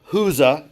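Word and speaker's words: Chuza: Joanna, the wife of Huza is how that's pronounced.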